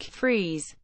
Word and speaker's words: Freas: Hornell New York priya's pronounced like Freese was the son of